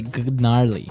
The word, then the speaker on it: gnarly: We heard the ski instructor say gnarly. Gnarly. Run. Yeah. Gnarly. So, an interesting word. It's spelled G N A R L E Y. Okay. So, but you don't say gnarly. No, you say gnarly.